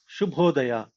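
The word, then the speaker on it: ಶುಭೋದಯ: Next, let's learn some word called good morning is shubhodaya.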